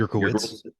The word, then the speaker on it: Yurkowitz: Me and Bill, is it Yurkovitz? Is that how you Yurkowitz. pronounce it? Yurkowitz. Yeah. Yurkowitz.